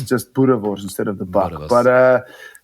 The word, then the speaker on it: Boerewors: I've totally butchered the pronunciation of that, I'd say. Range of sausage. Unlucky. Where can that be found? Yeah, go on, correct me. That's Boerewors. Just have to be aggressive. Boerewors. There we go.